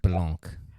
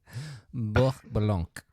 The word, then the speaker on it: Blanc: I think you Blanc. I think you just made that Hasidic more than you made it French. That's Blanc.